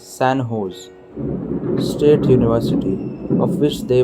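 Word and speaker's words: San José: in the u.s recently sanjo's pronounced as sanho's state university of which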